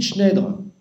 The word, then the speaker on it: Schneider: Ensuite, Schneider. Bien sûr, ça s'écrit Schneider, mais on ne dit pas Schneider, parce que Schneider, c'est en allemand. Donc en français, on dit Schneider.